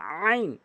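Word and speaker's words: ع: এখানে উচ্চারণে খেয়াল করবেন একটি হচ্ছে এটি হচ্ছে হলকের মাঝখান থেকে উচ্চারণ করতে হয় চাপ দিয়ে অধিকাংশের একটা ভুল হয় আইন বলতে হবে আইন বলা যাবে না আইন বলতে হবে চাপ দিয়ে এবং হরফ দেখুন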